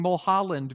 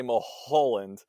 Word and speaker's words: Mulholland: what's weird to me when i see it i want to say mo holland because there's a there's an oh right in the middle of it yeah it just rolls